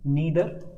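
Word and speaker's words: neither: Now your subject is नीदर, और यू कैन से नाइदर, both are correct in pronunciation.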